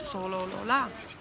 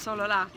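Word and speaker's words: Sololá: And then Saturday we went and took a trip to another little town called Sololola. Is that how you say it? Solola. It's called Solola, and it's like 20 minutes on a chicken bus.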